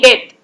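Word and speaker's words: debt: B silent होता है, इट्स डीटी डेथ।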